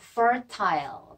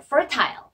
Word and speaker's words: fertile: 즉, 전라북도는 또 어떤 특성이 있냐면 아주 와이드하고 넓고 풍요로운 기름진을 영어로 fertile. 따라해보세요. fertile.